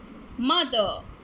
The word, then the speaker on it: mother: fable other brother mother kids do not pronounce the letter r other brother mother one done none one